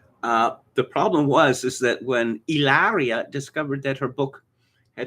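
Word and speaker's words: Hilaria: I read an amusing story about Alec Baldwin a couple of years ago, that Baldwin's wife, Ilaria, it's actually Hillary, but she insists it's pronounced Ilaria because she's actually Spanish, but she isn't.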